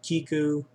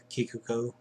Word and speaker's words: Kikoku: put that onto an Ender Mark II, your Kiku, or how do you pronounce it? Kikoku.